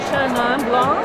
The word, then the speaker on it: Chenin Blanc: As a French person, you would say Chenin Blanc.